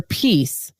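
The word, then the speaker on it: piece: about the say your peace black women mothers Martyrs and misunderstood y'all I'm saying peace and it sounds like p-e-a-c-e but it's spelled p-i-e-c-e and I want to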